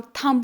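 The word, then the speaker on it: thumb: तो उसके बाद पहला है नी, फिर हम देखेंगे थंब, हम थंब नहीं बोलते, हम थंब बोलते हैं, थंब, बी साइलेंट रहता है।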